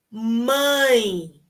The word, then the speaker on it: mãe: primeira palavra mãe mãe ai professora eu não consigo fazer esse som nasal tampo o nariz assim olha assim ó tampa o nariz tampa o nariz tampa o seu nariz e você vai escutar o som nasal mãe mãe mãe certo